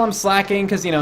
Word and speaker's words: Slaking: But it probably is slacking instead of slaking.